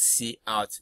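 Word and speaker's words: cout: Oh, you can make it so and C out here, you can pronounce C out, it's an object you together with the insertion operator, you see this.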